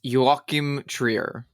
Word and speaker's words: Joachim Trier: I looked up a pronunciation, by the way. Okay, and I will say it one more time. It's Joachim Trier.